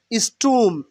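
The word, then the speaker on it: storm: টেম্পামেন্ট মানে মেজাজ নট স্টোম স্টোম মানে ঝড় স্টোম স্টোম স্টোম স্টোম মানে কি হবে ঝড় উচ্চারণ হবে কি স্টোম স্টোম নট স্টোম স্টোম স্টোম স্টোম R will be silent hair স্টোম স্টোম মানে ঝড়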